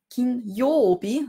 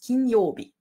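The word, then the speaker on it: 金曜日: Man kann sich das vielleicht ein bisschen so merken, Kinyobi, es hat zwei Katakana-Jos, darum spricht man ein langes Jo aus. Kinyobi. Ja. Kinyobi.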